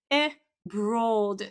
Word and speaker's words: abroad: So, they say a at the beginning and also say broad with this w inside. Okay? And this is simply abroad abroad. Okay? There is no w in the middle.